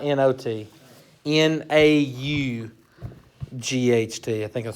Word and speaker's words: naught: We don't call it y0, okay? It's called y naught. Why not? Yeah. Yeah, not that kind of, not N-O-T. N-A-U-G-H-T.